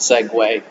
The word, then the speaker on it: segue: number by the way this is the spelling of that word that's pronounced segue and 17 has been